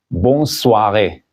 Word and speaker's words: bonne soirée: Ici, N est prononcé parce qu'il y a do N. Alors, quand il y a do N avec une voyelle, après ça, il faut prononcer la lettre N.